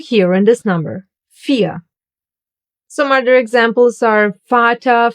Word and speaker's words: vier: Vier. You don't hear the R. Listen again. Vier.